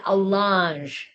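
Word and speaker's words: allonge: The piece of paper is called an alange and that is spelled A L L O N G E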